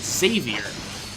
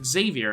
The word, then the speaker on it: Xavier: His name was Xavier, and I always pronounced it as Xavier, and I had to get corrected many times because it was pronounced Xavier, and I was like,